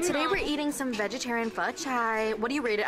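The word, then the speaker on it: phở chay: I usually get like pho che. Is that how you say it? It's like pho chai. Pho chai. Oh, that's how you say it. I've been saying pho che.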